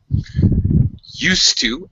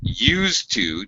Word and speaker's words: used to: totally different meanings and we pronounce this differently depending on what we're expressing used to S sound to talk about a past habit used to to express purpose all right I hope